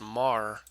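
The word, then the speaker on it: Meagher: named Thomas Francis Mah it looks like meager but it's pronounced Mah became the Brigadier General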